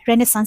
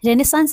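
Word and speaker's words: Renaissance: तो ये इसको क्या कहते हैं, रेनेसांस बोलेंगे। इसका करेक्ट प्रोनाउंसिएशन रेनेसांस है, और कुछ लोग उसको रेनेसां भी बोलते हैं, ठीक है।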